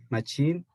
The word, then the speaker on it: machine: Ski, sheep, believe, machine, beach, live, reason, people. Good. This one again. Shh. Let's pronounce the CH as shh. Imagine the Machine. C is an S.